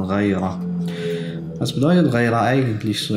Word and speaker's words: Ghayra: Das heißt nicht Rira, wie es oft ausgesprochen wird, Rira, sondern Raira.